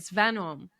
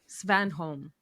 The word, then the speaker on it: Svanholm: Svanholm. Svanholm.